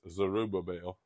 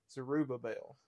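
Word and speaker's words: Zerubbabel: I have well I'll tell you how to pronounce that it's zerubba bell zerubba bell zerubba bell and it and this last one is a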